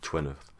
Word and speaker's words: Gwyneth: It's actually pronounced, it's spelt Gwyneth, sort of Celtic name, but it's pronounced in the story as Stephen knows her as Gwyneth, I believe is how you pronounce it.